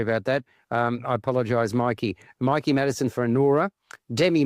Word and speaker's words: Mikey: use that on trains sorry it's it's Mikey is it okay Mikey apologize Mickey there's no C sorry about that um I apologize Mikey Mikey Madison for Anora